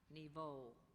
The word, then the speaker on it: niveau: This word could be confused with a similar word, niveau. A level or plateau as of existence or achievement, especially in a progression. Niveau.